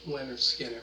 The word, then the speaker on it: Lynyrd Skynyrd: out called Simple Man, off their debut album, pronounced Leonard Skinner, which I also done album reviews. If you like that band also, Leonard Skinner, I've done album reviews of theirs from Pronounced